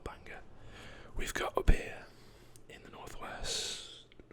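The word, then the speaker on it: Bangor: few to add here so this is banger b-a-n-g-o-r banger we've got a beer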